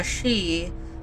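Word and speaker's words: 四: to be aware of the number four is pronounced uh she the same as the word or death and it is considered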